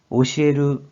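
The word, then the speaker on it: 教える: 이 한자 뜻으로는 오시에르, 오시에르 혹은 오소와르, 오소와르로 발음하고 음으로는 쿄, 쿄라고 길게 발음해줘요.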